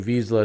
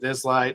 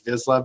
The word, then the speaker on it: Vizsla: So, how did you come up with the name Visa Silver? It's uh so I have a a visa dog or some people pronounce it Vizla.